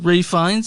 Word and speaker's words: Fiennes: One of the things that bothers me about Ray Fiennes is it's pronounced Rafe, and I'm like, why?